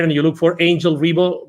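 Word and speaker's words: Ribo: look for Angel Rebo my last name is is spelled r i b o for those that are going to listen to this instead of watching it g Angel a NG g l Rebo R IBO and the CEO Confidant is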